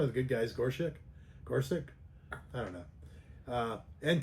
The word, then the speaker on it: Gorsuch: like uh uh Neil Gorchic. Gore Gorchic. How do you say that? Gorsuch.